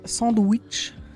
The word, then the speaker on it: SandWitch: On va sur Caravan Sandwich, avec mon accent anglais à chier, mais volontairement prononcé sandwich.